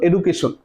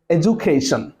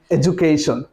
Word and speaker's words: education: তো এখানে এটার এডুকেশন না, এর প্রপার উচ্চারণটা হবে এডুকেশন। তো আমি আবারও বলি EDUCATION ইকুয়াল টু এডুকেশন। তো এখানে যে সাউন্ডটা আসছে DU ইকুয়াল টু জে হয়েছে।